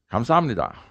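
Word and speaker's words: 감사합니다: years there's often arguments it's pronounced kamsahamnida no it's pronounced no it's pronounced calm sahamnida it says well let's ask a korean you know say thank you for me and the queen says comes omnida and the first guy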